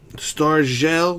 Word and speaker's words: Star Gel: Star Gel, that's how you pronounce that. With a J, not a G.